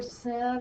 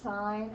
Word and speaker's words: sine: first three letters but it is not ever sin or cos it is always pronounced sine and cosine even when we just